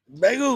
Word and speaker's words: Bagu: is Joe Lasala and Michael Bagu, which is funny because his name rhymes with Ragu. Bagu.